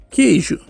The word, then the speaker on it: queijo: Por exemplo, eu vou querer falar a palavra queijo. Queijo. Quando eu falo queijo, quando eu falo esse QU aqui, eu não pronuncio o QU, eu simplesmente uso aquele fonema Então, olha só, aqui